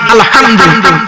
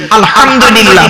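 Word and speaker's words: الحمد لله: আরেকটা দেখেন, এই মা বোনেরা ভালো করে শুনে নিন, আলহামদুলিল্লাহ সূরা পড়েন না, আলহামদুলিল্লাহি রাব্বিল আলামিন, আলহামদুলিল্লাহ এই গলার ভেতর থেকে এটা উচ্চারণ করুন, বাপেরা হাতে ধরে বলে যাচ্ছি আলহামদুলিল্লাহ মানে হচ্ছে সমস্ত প্রশংসা আল্লাহ তোমার।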